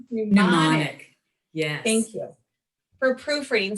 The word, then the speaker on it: mnemonic: Mnemonic. Mnemonic.